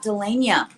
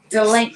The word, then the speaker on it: Delana: It is not Delania. It's Delana. You're too cute.